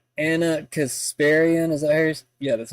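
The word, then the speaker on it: Ana Kasparian: Anna Kasparian, is that Yeah, that's how you say her name.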